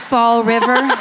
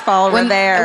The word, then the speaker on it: Fall River: Is it pronounced Fall River? Revere. I think it's Fall Revere. When that one came up, I was like, I fucking got this. First fall and then river. There's no extra EHs at the end or anything.